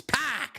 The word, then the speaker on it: PAC: you waited for it's pack man it's pack like a sixpack spell it PAC now spill pack